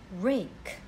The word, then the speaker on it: rake: This is a rake. R-A-K. Letter K is missing. And again, letter E is silent. Doesn't make sound. R-A-K, rake.